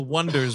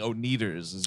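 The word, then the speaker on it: Oneders: they call themselves the wonders but the way they spell it is o-n-e-d-e-r-s and everybody keeps saying oh needers oh that's why they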